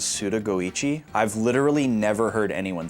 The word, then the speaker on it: Suda51: He writes his name as Suda51, but it's pronounced as Suda Goichi.